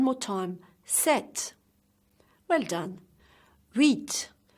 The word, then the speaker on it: huit: Huit. So huit, never pronounce the H in French.